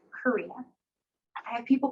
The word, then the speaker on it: Corina: people can click on to know how to pronounce my name, right? Corina.